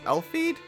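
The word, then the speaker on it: Elfead: So your last name is pronounced Elfeed?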